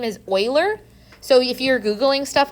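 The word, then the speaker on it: Euler: e his name is Oiler so if you're Googling stuff online and you run across something called Oilers number that's the same thing and yes that is pronounced Oiler weird I know okay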